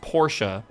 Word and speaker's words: Porsche: Just like uh Porsche is supposed to be pronounced Porsche cuz the E at the end in German is pronounced as an A.